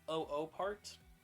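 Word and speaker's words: OOPArt: as the oo part some people call it the oop art because of the way it's spelled but I think it's double O part or O Part so it's over oh part I believe um and it later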